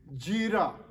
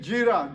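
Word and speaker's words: Gera: Son number 2, Jira. That's G-E-R-A. Son number 3, Abihud. Spelled A-B-I-H-U-D. Abihud. Son number 4, Abishua. That's spelled A-B-I-S-H-U-A.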